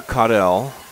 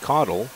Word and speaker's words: Caudell: Parker Caudell is how they pronounce it here. I've seen it pronounced Caudle, but Parker's a sophomore, and he's going to get his first varsity start here tonight.